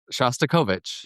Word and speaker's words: Shostakovich: And he said that he was told to listen to, how do you pronounce it? Shostakovich.